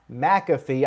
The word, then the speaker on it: McAfee: on here we had adam cole versus pat mcafee i finally got it right after all this